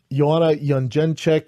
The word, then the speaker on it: Jędrzejczyk: So, you had Neil Magny, Chiesa, I think is the correct pronunciation of his name. Joanna Jędrzejczyk versus Rose Namajunas.